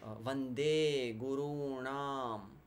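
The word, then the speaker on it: वन्दे गुरूणां: Okay, Vande Gurunam. Hear the long vowels.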